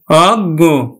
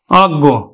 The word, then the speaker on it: অজ্ঞ: প্রকাশ করে তাহলে কিন্তু এই অটা অ এর মতই উচ্চারিত হবে অর্থাৎ উকার আর হবে না এখানে যেমন উকার হলো